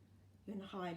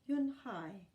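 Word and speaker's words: Unhei: Yun Hai looked quickly at Mr. Kim and then to Joey. She nodded slowly. "Yes, it's pronounced Yun Hai, and it means grace," Mr.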